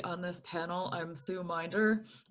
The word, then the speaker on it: Minder: I'm Sue Minder, pronounced with a long I, but everybody does that, so it's okay.